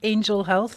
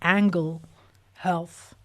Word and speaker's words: Angle Health: I keep mispronouncing it it's not Angel Health it's angle health uh angle Health um